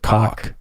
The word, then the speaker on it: Koch: I know it looks like Koch, but he pronounces it Koch.